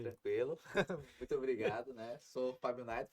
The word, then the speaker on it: Fábio Naito: Sou Fábio Naito, pronunciou corretamente, né?